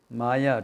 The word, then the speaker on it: Maya: which is not there sa that is May Maya two syllables so that which is